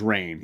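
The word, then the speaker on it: Rahne: of uh is it is it ran or rain how do you pronounce it I pronounce it as rain yeah rain so um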